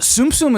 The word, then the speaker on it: Tsum Tsum: Tsum Tsum is how I was told it was Tsum pronounced.